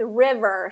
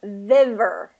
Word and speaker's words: river: Okay, so let's try that with river. So, river. Okay, so I just heard viver. So you were starting with a V sound, and we got to get it back into the R.